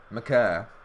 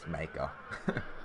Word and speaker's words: Maker: Yeah, McCurr. That's the correct pronunciation. Yeah. But of course, everyone in America says Maker, which he says he's okay with.